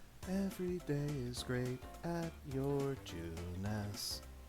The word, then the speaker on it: Junes: is great at your juness drives me crazy that that's two syllables this place is Lively